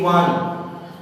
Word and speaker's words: one: O-N-E, one. O is a vowel, but it gives us a consonant sign. One. In Hindi we write like this. One. So O is pronounced as V. Wa.